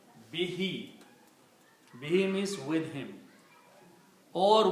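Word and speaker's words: بِهِ: But when you recite be with who the who is pronounced as he behe.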